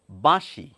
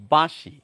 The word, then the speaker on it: বাঁশি: এবারে চন্দ্রবিন্দু লাগিয়ে উচ্চারণ করলে কেমন হবে? বাঁশি বাঁশি বাঁশি।